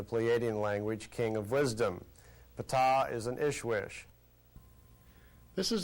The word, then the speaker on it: Ptah: That's pronounced Ptah.